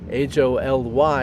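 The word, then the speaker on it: wholly: holy purpose as in i know it's spelled h-o-l-y in here but that's really just a made-up word about something about perfection idea it's actually w-h-o-l-l-y holy purpose so living into that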